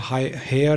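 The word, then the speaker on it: Haier: और इलेक्ट्रॉनिक्स में देखें तो हेयर एक कंपनी है, हायर हेयर करके दे प्रोनाउंस इट एज हेयर।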